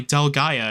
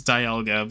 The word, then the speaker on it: Dialga: Like, I could definitely see that, but no, it's not pronounced that way, and I refuse to pronounce it that way. It's Dialga, but anyway, yeah.